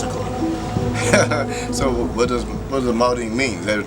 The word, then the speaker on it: Maldene: So there's no such thing as a silent letter. So why is the last letter on Maldene silent?